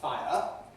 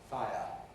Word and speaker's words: fire: because in my view if you have everything present in a word like fire then really you have to say just two syllables fire if you want to make it one syllable which we can then you have to smooth it far because it's too much